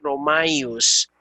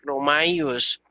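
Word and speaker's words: Ῥωμαίους: aquí vemos, estas dos letras deben pronunciarse juntos. Hay una sílaba mai y luego la junta los otros dos. Pero por regla, el acento se queda en la segunda vocal del dictongo. Entonces, pros romaios, pros romaios.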